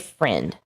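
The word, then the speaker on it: Freund: look up aj friend it's not f-r-i-n-d it's f-r-u-e-m-d aj friend that's how you say it though that poor baby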